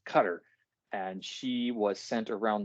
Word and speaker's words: Qatar: this is where I learned the pronunciation of the word cutter it's not Qatar or Qatar or anything else it's Qatar and she was sent